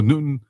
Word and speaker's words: Nutan: So it's pronounced Nutan like the fig, but it's not. It's spelled differently, yes. Spelled differently, okay. So Nutan.